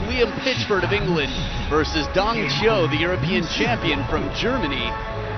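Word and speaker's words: Dang Qiu: is the man who we've recently adapted our pronunciation of his name Dongo as he's known throughout Europe dong Cho the European champion at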